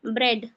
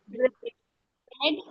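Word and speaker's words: bread: का साउंड आना चाहिए लेकिन ए जो हमारा रूल कह रहा है कि ए हमारा साइलेंट होगा जब कॉम्बिनेशन ए और ए का होगा तब तो इसको क्या पढ़ेंगे हम ब्रेड ब्रेड ड्रेड हेड हेड स्प्रेड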